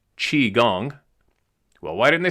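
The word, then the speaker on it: qigong: The first thing you learn in qui gong pronounced chi gong.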